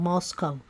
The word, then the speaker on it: Moscow: Idol college town of Moscow pronounced not like the Russian Capal but to rhyme with Costco the locals with no